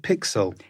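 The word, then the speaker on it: PiXL: reading about how you got involved do I pronounce it pixel yes yeah can you tell us a bit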